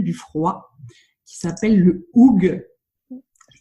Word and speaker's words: hygge: Alors aujourd'hui, on va parler d'un truc venu du froid qui s'appelle le hoog. Je prononce bien au félicit.